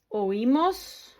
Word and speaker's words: oímos: Nosotros oímos, with an accent on the I.